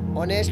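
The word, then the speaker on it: honest: Being यानी होना, यानी बिसाइड्स बींग ऑनेस्ट, ऑनेस्ट बोलेंगे फ्रेंड्स इसको, एच साइलेंट होता है, ये मीनिंग्स आप लोगों को मालूम होने चाहिए।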